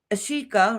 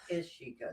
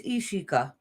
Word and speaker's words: Ishika: Brenda, Gamer Girl, Kashan, Ashika, right? Did I say it right? Ishika, it's an I. It's Ishika.